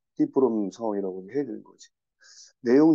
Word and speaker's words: Ta Prohm: 이게 영어 철자로는 타프롬 이렇게 되는데, 실제 발음은 이제 그 나라 사람들은 띠프롬이라고 하니까, 띠프롬 상황이라고 해야 되는 거지.